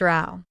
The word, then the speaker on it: row: Yes, but it's pronounced row like cow.